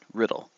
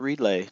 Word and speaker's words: Riddle: That's right, Riddle. Not Reedlay, not Reedla, not, not Riddell. Riddle. Just like it's spelled.